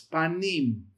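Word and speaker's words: פנים: You have the pe, comments, you have the noon, you have the hiriq yod, and you have the mem, the m. And it's panim.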